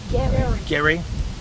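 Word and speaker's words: Gerry: about this family here thomas gary or jerry how we pronounce g-e-r-r-y gary thomas gary was born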